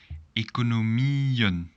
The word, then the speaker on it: economieën: However, here, because the singular is with IE at the end, so economie, we're going to pronounce the IE a little longer. It should be a little bit more clear that it's the plural.